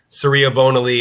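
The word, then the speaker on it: Surya Bonaly: as the artist and serea bonaly that's how you pronounce her name dr george surya and then bonaly she is a world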